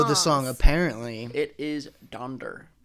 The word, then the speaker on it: Donder: cool is typically the reindeer's names are incorrectly pronounced specifically donder yeah cause it's gender not donner i was like i thought it was donner